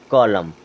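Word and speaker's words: column: है उसी प्रकार देखें क्या हो जाएगा कॉल कॉलम क्या हो गया कॉलम एन होता है साइलेंट ये क्या हो जाएगा कॉलम कॉलम मींस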